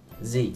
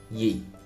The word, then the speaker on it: gì: Z means what, whereas Southerners would pronounce it yi.